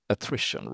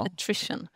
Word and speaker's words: attrition: Eh och sen så då väldigt låg vad hur uttalade du det här Martin? Attition rate va? Attrition.